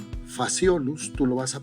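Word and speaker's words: Phaseolus: Pero tú ves que ahí está escrito con PC y con h Lo que pasa que estos nombres provienen del latín por eso es que suena como una F faciolo tú lo vas a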